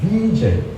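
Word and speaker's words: Wiesel: 유대인 작가인데요 마니아 작가이기 때문에 저는 이책을 번 비젤 인터넷 보면 젤이라고 번역을 합니다이 젤이 영어식 바람이니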